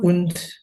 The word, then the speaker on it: und: Dan bacanya dan un un unt unt un un bukan berakhir di n ya tapi berakhir di d unt unt unt adalah ist